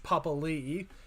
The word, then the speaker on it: Papali'i: Jared Croker and Josh Papali'i, because the NRL are very much implementing that is actually how you pronounce his last name.